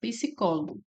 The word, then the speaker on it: psicólogo: Então, vejamos aqui o item A, psicólogo. Psicólogo é separado dessa forma. Psicólogo. Então, aqui nós temos uma proparoxítona, né? Nossa sílaba tônica é o có, é a antipenúltima.